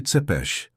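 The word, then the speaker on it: Țepeș: Ele ganhou um novo apelido, Vlad Tepes, pronuncia-se Tepes, Vlad, o empalador.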